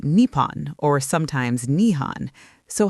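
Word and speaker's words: 日本: The Japanese call their country Nihon which literally means origin of the sun. In Japanese you read it as Nihon or Nepon but the Chinese pronunciation sounded more like Jun.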